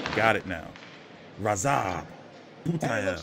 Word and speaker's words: Radzhab: Oh, it's Radzhab. The H is silent. Got it now. Radzhab.